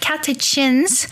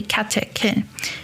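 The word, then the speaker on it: catechin: So, you know, people don't refer it as epigalo katakin galates, but and I also just realized that I said kachins before, but it's actually kakin.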